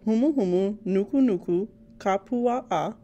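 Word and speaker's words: humuhumunukunukuāpuaʻa: F is also for our state's unofficial fish called humu humu nuku nuku kapua'a. It is pronounced hu mu hu mu nu ku nu ku a pu a a.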